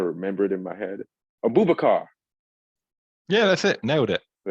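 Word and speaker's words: Aboubakar: Abubakar.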